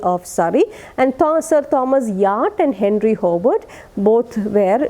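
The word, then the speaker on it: Wyatt: It is pronounced Yacht in your textbook. It is there. It is mentioned, but it is don't pronounce W-Y-A-T-T, but it is to be pronounced Yacht.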